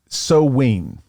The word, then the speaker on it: Samhain: Okay, so they called it Samhain.